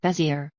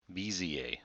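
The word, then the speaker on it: Bézier: Here are the two pronunciations I found. Bezier. Bezier.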